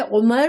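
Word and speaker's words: عمر: अरबी में सिर्फ उमर अगर लिखा हुआ होगा और इस पर ज़ेर ज़बर नहीं लिखे होंगे तो सिर्फ आइन मीम रा तो उमर पढ़ेंगे और जब वाव के साथ होगा तो इसको अमर पढ़ेंगे।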